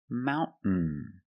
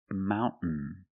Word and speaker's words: mountain: understand this trade example mountain mountain you can say mountain or Mountain this gril tablet speaks